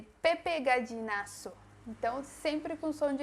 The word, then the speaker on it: Gallinazo: Se escreve desta maneira, com a E, gallinazo. Então, não olvide, não se esqueça que não existe o som do Z em espanhol.